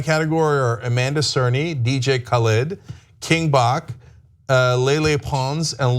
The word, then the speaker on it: Khaled: and the actual pronunciation of DJ Khaled's name is DJ Khaled, because it's like at the beginning of every song he's ever been on. Yes. He doesn't. You have to shout it.